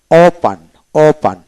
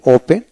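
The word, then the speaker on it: open: তারপরে ওপান আমরা সাধারণত বলি ওপেন, কিন্তু উচ্চারণ তো হবে ওপান খোলা, ওপান্ড।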